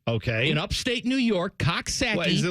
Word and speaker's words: Coxsackie: the Hudson River okay in Upstate New York Cox saaki is it like two people that Liv there